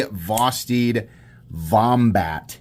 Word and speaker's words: Vosteed Vombat: This is the Vosteed Vombat, is how you say that.